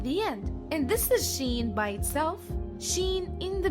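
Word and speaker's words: شين: The next letters of the alphabet are Sin and Sheen. Sin is equivalent to the letter S. Sheen is equivalent to the combination SH.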